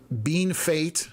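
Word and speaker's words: Bienfait: Uh localities are Stotten, Arcola, Lampman, uh Bean Fate. I remembered how to pronounce that.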